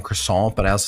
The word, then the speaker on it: croissant: So, this is a croissant crust. Just say it like a real American. Croissant. I am a croissant. Crescent. I mean, you aren't saying the T.